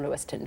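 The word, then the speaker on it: Lewistown: next recipe is from Lewiston which incidentally is spelled Lewis town and it's a black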